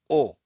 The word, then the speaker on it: を: But for now just as I mentioned the subject is marked by va or ga and the direct object by o pronounced as o.